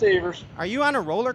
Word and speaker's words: Evers: All these years I've always thought it was Evers. It's because of Nope. that song. It's pronounced Evers.